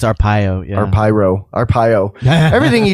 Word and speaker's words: Arpaio: Joe Apyro. I think it's Arpaio.